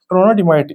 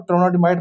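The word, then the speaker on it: trondhjemite: अब ये जो दूसरे वाली आ गई हमारे पास ट्रोनोडिमाइट, ट्रोनोडिमाइट इसमें एच और जे साइलेंट है और ट्रोनोडिमाइट बोलते हैं इसको बेसिकली।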